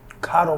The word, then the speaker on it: Kado: you're drinking honey and the reason why it's pronounced as such is because kato means gift in my language so if you say keto you're not even talking to me that energy